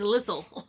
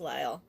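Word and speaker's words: Lisle: yes so and there looks like it says listle listle it's l it's pronounced ly yeah it's so nice and um I used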